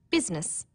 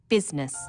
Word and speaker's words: business: Business, people don't pronounce the I. Business.